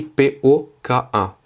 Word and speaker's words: пока: En fait, ici, le O n'est pas accentué. C'est-à-dire que l'accentuation du mot, c'est po-ka. C'est-à-dire que l'accentuation, elle est sur le K. Ce qui fait qu'un O non accentué en russe se prononce comme un A.